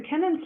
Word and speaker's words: Kennan: The fourth of our 5 bridges that you come across is Kennan Bridge, or Keenan Bridge as I hear it pronounced, but it's spelled Kennan, Kennan, named after a local landowner.